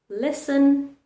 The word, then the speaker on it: listen: T remains silent in words like listen, castle, ballet, or soften.